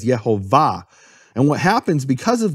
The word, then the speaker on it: Yehovah: And more importantly, where is the emphasis of the word? The emphasis of the word is in the final syllable. It's marked that way in all Hebrew manuscripts with vowels. No question about it. All the Hebrew manuscripts with vowels mark it as Yehovah.